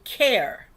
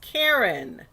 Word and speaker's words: Karen: department kept calling me care and i said don't you ever you know i kept saying my name is karen not care and so he kept